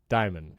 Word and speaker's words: Dimon: Diamond. Like diamond without the D. Like The Rock. Jamie Dimon. When he retires, he gets the D and he just becomes Jamie Diamond.